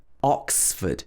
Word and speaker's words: Oxford: ford but bradford and the next one is oxford oxford obviously oxford is a very famous place